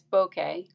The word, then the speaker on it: bokeh: how to say the word um and it's bokeh and it's the blurry effect created in the